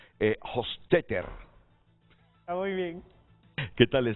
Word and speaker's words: Hofstetter: Pero se anticipó aquí Juan José Reyes a pronunciarlo, Hofstetter.